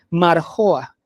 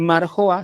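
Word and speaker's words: מרגוע: Y en hebreo es la palabra, se pronuncia así, la fonética es marjoa, marjoa, no es menujá, no es Shabbat, es marjoa. Cuando ustedes lean marjoa, si está, ya tuvo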